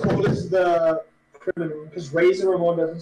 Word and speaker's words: Razor Ramon: Okay, Razor Ramen is definitely a wrestler. It's pronounced Razor Ramon.